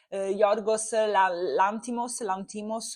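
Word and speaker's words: Yorgos Lanthimos: anche perché lo sta guardando chiunque, perché ora Yorgos Lantimos, che poi mi rompete le palle sotto i video con le pronunce, si pronuncia così, ah!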